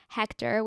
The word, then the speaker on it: Hechter: Tik Tok and Instagram it's just my name Hector which is spelled h e c h t r and then um someone